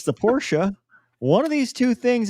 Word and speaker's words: Porsche: It's Porsche. hilarious. It's hilarious to me. Like the phonetic. It's hilarious. Anyway. Porsche. It's pronounced BMW.